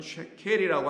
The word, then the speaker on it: 세겔: 그걸 세겔이라고 하고 본래 발음은 쉐켈이라고 합니다.